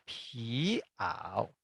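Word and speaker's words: pí'ǎo: Ini kita bacanya piao. Piao. Artinya jaket kulit. Bayangkan kalau tidak ada apostrof, maka dia ucapannya adalah piao. Piao. Berubah jadi artinya berhembus.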